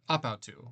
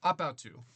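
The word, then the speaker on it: ἀπ' αὐτοῦ: Ap autou, pronounce it as one word, ap autou. Everybody say with me, ap autou.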